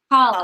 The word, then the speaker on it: challah: Oh my goodness, I the can't challah, pronounce it. Challah, challah.